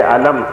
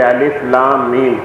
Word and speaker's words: الم: آپ اسے پڑھیں گے الف لام میم۔ اس کا تلفظ جدا گانا ہے، یہ ملا کے نہیں بلکہ الگ الگ کر کے حروف ادا کیے جائیں گے۔ کاف ہا صاد، الف